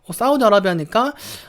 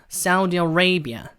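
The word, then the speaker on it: Saudi Arabia: 사우디는 뭔가 맞는 것 같은데 뒷부분이 좀 달라지는 게 여러분 들리시나요? 아라비아라고 우리는 한글로 표기를 하는데 자, 영어로 할 때는요 사우디는 거의 똑같고요. 사우디 아라비아예요. 아라비아.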